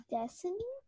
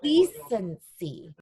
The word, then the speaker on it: decency: See and E together makes, Georgette, what do you think? Destiny? Not quite. The word is decency. Can you, Penelope, you thought that? Yeah, so decency is how you pronounce the next word.